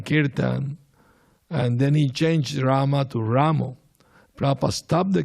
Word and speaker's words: Rama: is this Ramo Ramo with an O at the And uh you are spoiling the movement. The proper pronunciation is Rama.